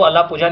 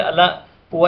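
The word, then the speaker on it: Alappuzha: केरल के कोट्टायम या अलापुआ, जिन्हें आप अलापुझा नॉर्मली कहते हो, तो वो अलापुझा नहीं, वास्तविकता में से अलापुआ ही कहते हैं, है ना, उसका प्रोनाउंसिएशन होगा।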